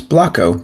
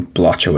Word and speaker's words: Blocko: And now I know how to properly pronounce Blocko because I have always called you Blotcho in my head.